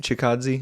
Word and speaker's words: Chikadze: I guess the first was the year was Calvin Kattar versus Yep, Chikadze. Chikadze. Is that how you pronounce it? You got it.